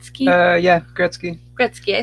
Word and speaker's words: Gretzky: how do you say it right ski yeah Gretsky Gretsky I said it right and then this